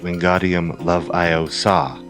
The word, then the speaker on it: Wingardium Leviosa: It's technically pronounced Wingardium Leviosa, not Leviosa.